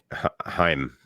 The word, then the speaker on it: Haim: Hyman. It's Haim.